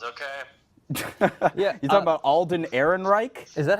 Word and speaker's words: Ehrenreich: You talking about Alden Ehrenreich? Is that how you pronounce his name? Yes. Okay. It sounds like a SS officer or something. Okay, well, Ehrenreich.